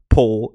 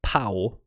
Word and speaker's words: Pau: It is not Po, it is Pau.